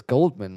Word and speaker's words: Goldman: what the sign says Goldman like I'm sorry I thought you said your name was Coleman right oh no it's Goldman it's Coleman the the D is silent yes so they're trying